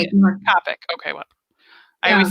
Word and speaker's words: Copic: Copic.